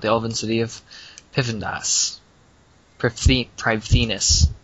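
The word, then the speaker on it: Prifddinas: Privethinus, how it's actually pronounced. They still call it Pivendus.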